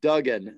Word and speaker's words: Duggan: Matt, if I remember correctly, it's Duggan, not Duggan.